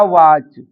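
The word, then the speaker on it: watch: एक रूल और है, यदि टी के बाद सी एच आ जाता है तो टी साइलेंट होता है। जैसे वर्ड लिखा है बैच, कैच, मैच या वाच।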